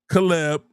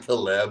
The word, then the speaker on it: Caleb: Caleb will uh Williams. Caleb. Caleb. Not KB.